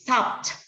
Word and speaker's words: stopped: three stop it okay it's not stop it okay it's stopped you are going to emphasize letter t because it sounds t stopped okay and the